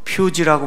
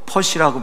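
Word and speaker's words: Pusey: 자, 그러면서 이제 나오는 게 영어로 이제 P-U-S-E-Y 이렇게 돼서 퓨지라고 발음하는 사람도 있고 퍼시라고 발음하는 사람도 있고 푸시라고 발음하는 사람도 있는데, 이 사람도 1800년에서 1882년까지 살았어요.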